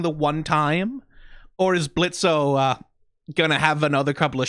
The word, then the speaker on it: Blitzo: Oh, is that Blitzo, my sensor spotter bear? I guess the kitties are still running away from you, huh? The O is silent now.